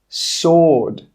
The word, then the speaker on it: sword: The letter W is also silent in these words, which we talked about a little bit in the last part of this series. Who, whole, answer, sword, to. In all of these words, we're not pronouncing the W, it's silent.